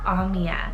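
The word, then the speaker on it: Aumia: list i have the name amia spell a-u-m-i-a omiya now this one is very different completely new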